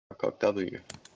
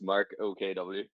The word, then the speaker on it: Mark OKW: Mark Hock W. Please come on stage. Good day, sir. Hello, yeah, it's my initials, so it's Mark OKW.